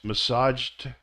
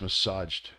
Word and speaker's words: massaged: the D sound and massage becomes massaged just like this massaged so it has a JD sound plug becomes plugged it